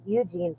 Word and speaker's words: Eugene: for says two hours it's eug not ug I don't know yes I did not realize that there's quite a lot of people who don't spell the Eugene part of your name